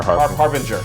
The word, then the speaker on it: Harbinger: Is it a hard G or a soft G in Harbinger? Harbinger. Harbinger, okay.